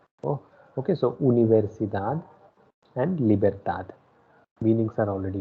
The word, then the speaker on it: universidad: Second one, it is not universidad. Do not pronounce it like that. It is u. So u is pronounced as u. Oh, okay. So universidad and libertad.